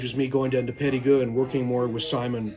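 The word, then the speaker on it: Périgueux: And last time I said Perigueux, it's actually pronounced Perigueux.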